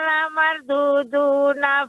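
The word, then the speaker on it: لمردودون: Yaquluna inna lamarduduna fil khafirah. Ya, jangan terburu-buru Ibu pengucapan lamardudu, lamar, tebal ra-nya.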